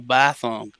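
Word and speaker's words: Bithumb: it right, Bitfinex, Bithum, what was the right pronunciation? If you want to get some cryptocurrency, you go Bithum.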